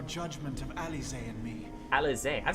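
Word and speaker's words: Alisaie: Alize. I've been saying her name wrong too this entire time.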